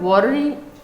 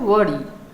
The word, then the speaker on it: worry: আবার WORRY, এটা ওয়ারি না, এটা হলো ওয়ারি, দুটো লেটারের একটাই সাউন্ড।